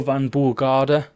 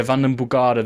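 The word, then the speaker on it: Vandenbogaerde: this year uh Mario Van buard uh yeah vanon bugard there you go got the right pronunciation in the end that's a [ __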